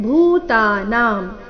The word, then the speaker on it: ಭೂತಾನಾಂ: ಎರಡು ಶಬ್ದ ಭಾವ ಭೂತಾನಾಂ ಭಾವ ಮತ್ತೆ ಭೂತಾನಾಂ ಈ ಎರಡು ಶಬ್ದಗಳಲ್ಲಿ ಎಲ್ಲಾ ಅಕ್ಷರಗಳು ದೀರ್ಘ ಇವೆ ಭವಂತಿ ಭಾವ ಭೂತಾನಾಂ